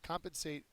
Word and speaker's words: compensate: person giving money there compensate is a verb first syllable is accented it means to make